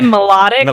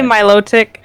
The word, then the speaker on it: Milotic: Milotic or something or some people say melodic I don't say it like that I say Milotic yeah I think Milotic is how I say it but essentially that's